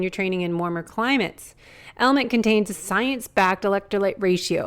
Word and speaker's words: LMNT: one of our sponsors, Element. It's spelled LMNT, but pronounced Element.